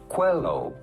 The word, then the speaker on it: Coelho: How do you go about pronouncing his name? Paulo Coelho.